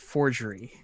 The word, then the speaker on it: 40-RG3RY: So, what is it? 40-. RG 3RY. Pronounced forgery. I like it.